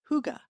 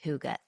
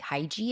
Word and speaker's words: hygge: And let's talk about that hygge. Thank you for that episode. I knew about the concept. As I pronounced it, I think hygie is what I was saying. Sure, because that's how it's spelled. Yeah.